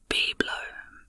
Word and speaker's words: bibelot: Bibelot, a noun, a knick-knack. Oh, this word is pronounced biblo, beg my pardon, with the stress on the first syllable.